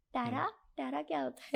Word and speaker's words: tarot: ये रहता है कि वैसे इसका स्पेल जो है वो टैरोट करके है ना बटी साइलेंट होता है तो इसको इसलिए टैरो बोलते हैं हां इसको बोलते टैरो बोलते हैं टैरो बोलते हैं आता टैरोट है क्योंकि टी ए आर ओ टी होता है इसमें डबल आर भी लग